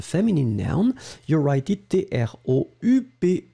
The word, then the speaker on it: troupe: You write it T-R-O-U-P-E. Remember that you don't really pronounce the E, the final E that's strong, so troupe.